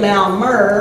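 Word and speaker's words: Malmö: speak in Rome in malmer Sweden okay malm MO is the way you spell it say it malmer uh and uh so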